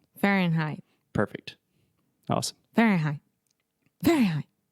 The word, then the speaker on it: Fahrenheit: closing that sound okay so when you say in like I am in the kitchen it's the same thing Farren can you say that for not fair in Fahrenheit Fahrenheit perfect awesome very high